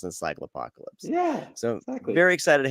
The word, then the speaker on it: Encyclopocalypse: the podcast they'll go oh that's how you pronounce encycle apocalypse yeah so very excited to have you on